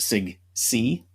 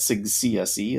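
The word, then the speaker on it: SIGCSE: Education uh and and most most most of the people in in that Sig call it Sig C uh that's how they pronounce it sigc um but you do get Sig CSC as well um that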